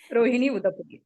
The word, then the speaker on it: Rohini Udapudi: Rohini Udapudi. Am I right, ma'am? Did I pronounce that correctly? Yes, Rohini Udapudi.